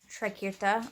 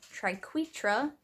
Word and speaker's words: triquetra: on a chain big trekirta or triquetra is actually i think how it's supposed to be pronounced because when i looked